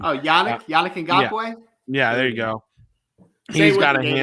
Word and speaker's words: Yannick Ngakoue: Oh, Yannick Ngakoue? Yeah, there you go. He's got a hamstring. Say it with me. Yannick Ngakoue.